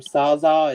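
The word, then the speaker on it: SZA: That's, I guess they pronounce her name Saza. It's S-Z-A is her rapper name.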